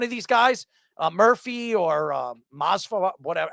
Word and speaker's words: Masvidal: And one of these guys, Murphy or Masvidal, whatever, how do you pronounce his name?